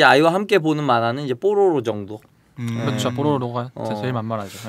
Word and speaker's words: 뽀로로: 발음 좀 어려워요. 뽀로로라고 해야지. 네. 빨리 발음하면 좀 야할 수 있어요. 그래서 예전에 이거 창작자가 처음 이 애니메이션 만들었다고 소개하는데 이게 제목이 뽀로로입니다. 그랬더니 얘 뽀로노라고.